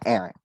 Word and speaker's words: Aaron: And do you pronounce it Aaron, your name? Yeah, Aaron. Saying it right, Aaron?